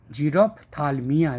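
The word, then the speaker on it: xerophthalmia: is called zero talmia pH is silent zerothalmia you can also tell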